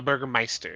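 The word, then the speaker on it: Bürgermeister: Um a Burger Meister is how it is pronounced.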